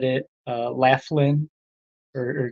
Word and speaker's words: Laughlin: mentioned uh uh what is that how I pronounced the Laughlin so now I know it's Laughlin uh thanks for uh pointing that out I